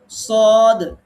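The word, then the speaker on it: صاد: সদ, স এটা বলার সময় স্বরটা পোর হবে, মোটা পাতলা হরফ একটু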